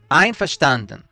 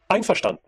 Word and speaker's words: Einverstanden: Einverstanden. Einverstanden. Einverstanden.